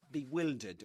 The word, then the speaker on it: bewildered: That's the way you pronounce it. Bewildered.